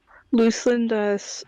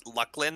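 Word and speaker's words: Luclin: Other people pronounce it Lucklin, by the way. That is incorrect. It is Luceland.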